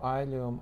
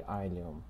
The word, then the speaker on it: ileum: Pronunciation of ileum or ileum, it varies between teachers, so I will use probably ileum as pronunciation because this is what actually more commonly used in northern part of United States.